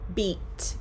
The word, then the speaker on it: beat: no anna e beat beat and bit the long e is in the word beat b-e-a-t like this music has